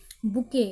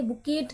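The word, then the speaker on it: bouquet: क्या क्या लिखा है बुके ये बुके होता है ठीक है बुकेट नहीं होता ये साइलेंट है बुके यहीं तक ये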